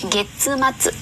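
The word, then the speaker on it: 月末: Cuối tháng đọc là gì ạ? So desu ne. Getsumatsu.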